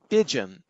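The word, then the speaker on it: Pyjion: compilers and he picked up a project named pidgeon i think it's spelled p y j i o n which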